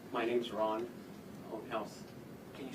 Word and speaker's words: Ohnhaus: My name's Ron House. Can you spell that for us?